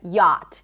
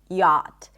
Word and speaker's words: yacht: We do not pronounce the CH, right? It's not yacht, but yacht, just like a y sound, as in father, and a T, yacht.